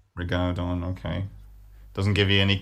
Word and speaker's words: rigaudon: I think I'd say Rigaudon, but I could be wrong. Rigaudon, okay.